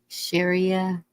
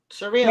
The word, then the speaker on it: Sharia: Sharia law, Sharia, Sharia.